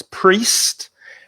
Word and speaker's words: priest: Priest. Be careful of the pronunciation. There's an I-E, but the vowel sound is E.